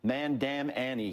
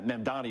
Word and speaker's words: Mamdani: here, especially when you have, how do you pronounce his name again? Sharpton called him Man-Dam-Annie. He added nine letters to the guy's name. It's remarkable. Yeah, Mamdani is the correct way, but again, if you're